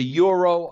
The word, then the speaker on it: gyro: food, I get the gyro. Okay? Every time. Right. You might call it a euro. I call it a gyro. That's how it's spelled.